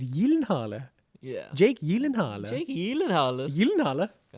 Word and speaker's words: Gyllenhaal: It's Jake Gyllenhaal. Like, that's what it is. And he goes, no. The way you'd actually pronounce it technically is Jake Gyllenhaal. And like, apparently that's like, his like native pronunciation of how you'd say it is Gyllenhaal.